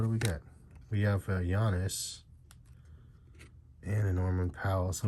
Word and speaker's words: Giannis: So Giannis, as you guys have corrected me a million times and told me that's how to say it. I always was calling him Giannis, but you know, it is what it is.